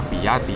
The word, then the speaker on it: BYD: ต่าง ๆ ให The อัน นี้ อ่าน ว่า ปี ย่า ตี๋ นะ ครับ ก็ คือ byd ครับ เรา ได้ โอกาส ดี